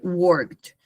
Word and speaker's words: worked: work y se dice worked. Básicamente nosotros pronunciamos el verbo work, la e no se pronuncia y queda la de worked.